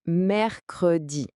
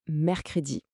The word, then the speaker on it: mercredi: Pour le prononcer, on dit mercredi. Alors, petite astuce de prononciation. Dans une conversation de tous les jours, un francophone va souvent parler vite et le e du milieu va presque disparaître. Ça donnera quelque chose comme mercredi.